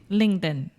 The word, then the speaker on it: LinkedIn: as well yeah okay let's begin with the pronunciation say it with me Alexia linken LinkedIn L ding L ding when Alexia is being